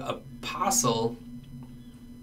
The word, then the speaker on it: apostle: we can see that in the word apostle i don't pronounce this T in the word apostolic